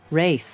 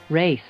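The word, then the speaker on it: wraith: take them three yes I can't believe it's pronounced like that either race race personally I don't find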